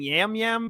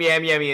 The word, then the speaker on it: Yam Yam: first off he is back the number one yam yam fan it appears how do you guys not know how to say his name is five episodes in Gambler called him yam yummy entire episode and I was too nervous to